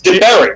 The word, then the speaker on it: Pat DaBiere: I've been pronouncing it I've also heard Pat De Beer you should think about that because that sounds cooler yeah people have been that up forever so but so it's it's DeBerry right DeBerry yeah y all right okay you got it